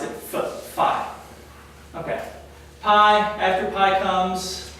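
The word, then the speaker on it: φ: All right, and typically we pronounce it as an F. All right, the ancient Greeks would not pronounce it as an F. We pronounce it phi.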